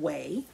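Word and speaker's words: Ouai: it is called the company is called whey it's spelled o u a i hi and this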